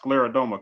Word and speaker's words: scleroderma: Just, due to the conditioning, you being a survivor of, it's pronounced scleroderma, correct?